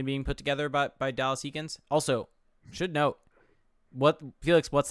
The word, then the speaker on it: Eakins: It's Eakins.